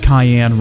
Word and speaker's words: cayenne: But I've been told that I pronounced cayenne wrong. It's like cyan or something like that.